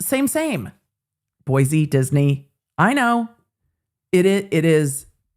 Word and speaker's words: Boise: It is Boise, like Disney. It's same. Boise, Disney.